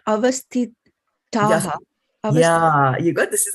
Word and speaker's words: avasthitāḥ: Avasthitāḥ. Yeah, you got, this is a tha for thali, and this is a ta for titli. It's a different consonant, right? Avasthitāḥ.